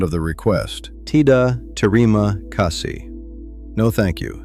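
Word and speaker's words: kasih: Pronounce the h on kasi.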